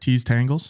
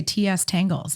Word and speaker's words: Tease Tangles: you say it right tease Tangles yeah look at that a lot of people like to say TS Tangles like it's just teas really just you're like